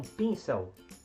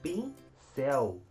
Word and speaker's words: pincel: que você comprar um pin são não você fala que você vai comprar um pincel então a sílaba tônica de pincel é a sílaba céu um colchão como nós